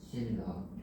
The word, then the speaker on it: 신라: 자, 그 다음 발음이 어떻게 됩니까? 신라. 그렇죠. 얘는 발음을 하면 라가 되죠.